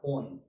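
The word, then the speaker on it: -one: এটা অন না, এক না, ওন বলে উচ্চারণে।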